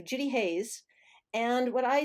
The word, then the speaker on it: Judi Hays: assume on linkedin yeah my name is spelled um very simply j-u-d-i h-a-y-s so judy hayes and what i say